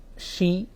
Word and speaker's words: Shi: उसने कहा कि मेरा नाम शी पी पू है। जो स्पेलिंग थी, शी SHE नहीं बल्कि SHI, लेकिन उसको प्रोनाउंस करते थे शी।